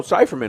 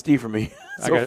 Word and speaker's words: Stieferman: Oh, Cypherman, okay. Yeah. Yeah. Jack Stieferman. Stieferman. I've always pronounced it Cypherman. And I always get corrected, and I still did it wrong anyway. It's Stieferman.